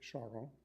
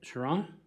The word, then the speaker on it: Charron: Yes, Charon. Last name is Charron. Okay, Sharon? Yes, if you want to pronounce it that way.